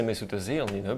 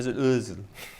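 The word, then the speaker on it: Özil: I know he's capable of being rubbish, but I wasn't going to say Mesut Ozil, because otherwise people say we would have.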